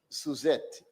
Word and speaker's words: Suzette: of Social Security, Miss Suzette, and you have to say it with the accent on the Z.